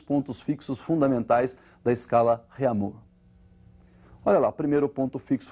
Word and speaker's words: Réaumur: francesa aí, que é a escala Réaumur, que nós vamos pronunciar Réaumur, né, que é aportuguesado de novo, né, e essa escala